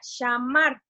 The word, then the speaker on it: shamar: Y la palabra guardar en hebreo es la palabra shamar. Si lo quieren anotar, se escribe S-H-A-M-A-R.